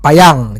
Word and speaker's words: Payan: Gue belajar bahasa Perancis, dia tahu gue kalau belakangnya N bacanya ang gitu, kayak Kylian Mbappé gitu kan, Fabien Barthez. Nah ini Benoit Payang, jadi kalau ada e-nya baru ne dibaca.